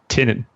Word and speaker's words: Tynan: you know introduction to the podcast and was pronounced Tynan Tainan I'm probably still pronouncing it wrong but it's